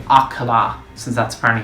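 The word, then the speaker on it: Akkala: to see the great plateau getting to see a callous citadel where i should be saying accola since that's apparently how it's pronounced but that was another really cool moment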